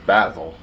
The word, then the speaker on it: basil: Like Austin Powers, basil. It's the proper way to pronounce it. Ask anybody that's British.